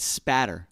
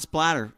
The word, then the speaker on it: spatter: That's See, you said it right, spatter. It's not splatter, children. It's spatter. Spatter, not blood splatter.